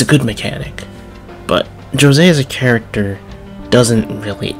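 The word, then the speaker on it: Jose: talk about the new characters let's talk about josée that's they pronounce it in game josée is the little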